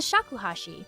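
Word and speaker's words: shakuhachi: He said 108 in Japanese is read hiakuashi. It rhymes with shakuhashi, a traditional recorder-like instrument, which is also slang for Draw your own conclusion.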